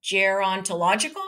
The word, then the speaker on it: gerontological: She's a leader in, now here's a word I never heard before, gerontological. How do you pronounce that? Gerontological? You think that's right? Gerontological? Yeah. It sounds right to me. It's gerontological. It's, go ahead.